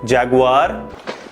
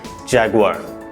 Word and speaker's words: Jaguar: So some people say it as Jaguar. Jaguar. But it is wrong. The pronunciation of this word is Jaguar. The first part will be ja, the second part will be guar.